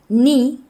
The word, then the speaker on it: knee: Knee knock. In these words, the K is silent.